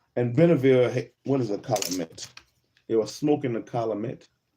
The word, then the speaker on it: calumet: Tunica Indians who were returning from smoking the calumet with the calumet with the Chittimakas. And Benneville, what is a calumet?